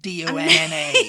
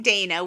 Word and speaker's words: Dana: I'm not saying D-O-N-N-A.